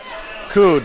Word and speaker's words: Cood: Alberto Verding, how do you say that? Cood. Say Yep. Yeah, we just go Isaiah Cood.